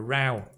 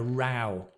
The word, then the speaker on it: row: A row. Think of it, because I know it sounds... This word has two pronunciations, right? It can be a row or a row. And a row is, imagine the cow.